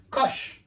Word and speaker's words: cosh: uh what about cosine hyperbolic cosine which is pronounced Kush because you write it as it sounds cosine